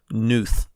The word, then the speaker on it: Knuth: It's spelled Knuth. Like canoe. That's how you say it. Yeah, but it's not spelled like canoe. It's spelled like knock. So I think maybe the K silent, Knuth.